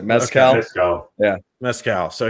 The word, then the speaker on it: Mescal: Mezcal, probably like the smoky tequila is how I would pronounce it. Mezcal.